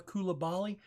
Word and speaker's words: Coulibaly: at right there lisanna coulibaly but it's Coulibaly cool cool Coulibaly balli instead of bali okay I don't think